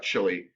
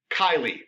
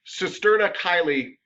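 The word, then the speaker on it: cisterna chyli: mr lee cisterna and it's not chili it's kylie that's it i had to think for a second everybody cisterna kylie uh is the way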